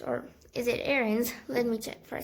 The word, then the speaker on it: Aarons: wondering well the main characters are just uh andrews or is it aaron's let me check for a second please okay